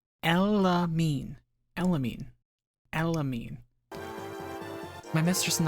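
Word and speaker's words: Elimine: Her name is pronounced Elamine.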